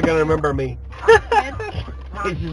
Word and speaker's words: Ahmed: It's Ahmed. Come back. Use your throat. Ahmed.